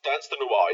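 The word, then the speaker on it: Danse de Noir: Is it pronounced Dance de Noir? Yes, it's France. Dance de Noir, yeah.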